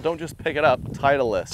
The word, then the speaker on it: Titleist: Titleist. Titleist. Three syllables.